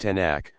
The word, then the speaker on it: Tanakh: Pronounced Tanakh, has no meaning in itself, and is a word formed of the initials of.